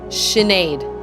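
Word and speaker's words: Sinéad: How do you pronounce it? Sinead.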